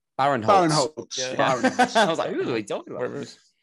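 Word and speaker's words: Barinholtz: And I really like Ike Barowitz. I think he's really funny. Who? Is it Ike Barowitz? How do you say his name? Baron Holtz.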